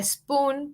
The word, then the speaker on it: spoon: Queremos como un sonido bien fuerte de solamente la S, no la E con S, sino S.